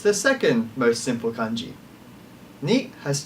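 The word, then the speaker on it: 二: Next we have ni. Ni is also very simple in the fact that it's very close to the number 1. It's the second most simple kanji. Ni has 2 strokes, the first one being smaller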